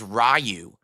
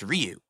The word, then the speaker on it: Ryu: for the longest time everyone said it was rayu in Street Fighter no one knew it was pronounced Ryu so in regards to